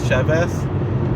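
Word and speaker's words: שבת: It's not exactly a B, but it's not a V. It's like a soft B in between a B and a V, and it's more like a TH, and that's the real way.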